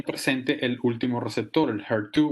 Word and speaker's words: HER2: El tercer nombre, HR2, o en inglés se pronuncia HER2, es un receptor diferente